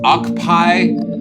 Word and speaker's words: Ockpii: know for believe so is it pronounced oai like octopi or yes yes so I've just been